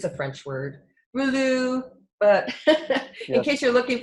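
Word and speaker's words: rouleaux: It's high energy, Rolou. Rolou. Yes, So is that spelled like French, Rolou?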